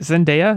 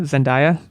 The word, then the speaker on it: Zendaya: desert with some mountains I will say it zendaya zendaya I'm so sorry to you that I've said your name wrong dis many times she's